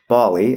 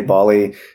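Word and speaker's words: Ballie: No, this is spelled B-A-L-L-I-E. Bali, and this was at the keynote, and this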